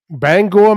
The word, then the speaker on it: Bangor: meet a guy from Bangor, Maine. And that's how you pronounce it? Or is it Bangor? No, Bangor, Maine. Right on the, nailed it.